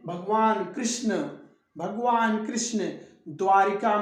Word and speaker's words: द्वारका: द्वारिका नहीं, द्वारका, द्वारका, द्वारका, रिका नहीं रका, द्वारका।